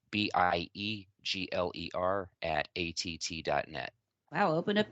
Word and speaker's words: Biegler: and fire my Dark Horse Journey Mr Dan biegler please tell me I pronounced your name correctly perfect perfect I always